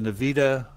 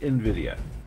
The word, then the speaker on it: Nvidia: a core absolutely well you know the the Nevada graphics cards one of the best breakfast cards in the world okay well that's hard it's actually pronounced Nvidia they actually write Nvidia exactly how'd you know